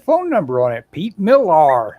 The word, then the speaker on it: Millar: you know had phone number on it pete millar it's spelled m-i-l-l-a-r and i called that phone number